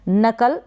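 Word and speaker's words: knuckle: तो यहाँ पर सी के का प्रोनाउंसिएशन क हो रहा है, सी के को आप प्रोनाउंस कर रहे हैं क, नकल पढ़ा जाएगा इसको।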